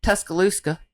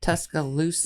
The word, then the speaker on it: Tuscaloosa: In Tuscaloosa, is that how you say it? Tuscaloosa.